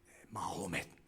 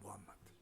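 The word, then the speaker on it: Muhammad: AD 570년 마호멧, 우리가 잘 아는, 영어로는 무함마드라고 하는데 영어 발음이 마호멧이고 그냥 아랍 단어로는 무함마드입니다. 군수사 무하마드 알리, 그 무함마드.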